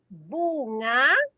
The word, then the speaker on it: bunga: So that one is bunga. Bunga. This is a difficult word to say. Nga.